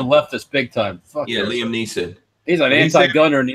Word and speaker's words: Liam Neeson: Liam Nielsen. Ain't that how you say his name? Oh, yeah. That guy's a leftist big time. Fuck yeah, Liam Neeson.